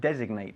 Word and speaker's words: designate: Designar es designate, por cierto. Ajá, Y ahí ok. sí pronunciamos la G.